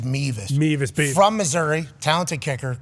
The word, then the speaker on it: Mevis: I think it's pronounced Beavis. I think the reason why I thought Beavis, I think it is Mevis.